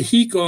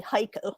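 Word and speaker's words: Hico: to go down to hiko and go to ferry cemetery too oh yeah yeah it was actually heiko by the way if you're if you pronounce it the texian way there it is yeah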